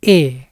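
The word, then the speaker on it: へ: berfungsi untuk menunjukkan arah partikel ini ditulis he tetapi dibacanya e partikel ini digunakan bersama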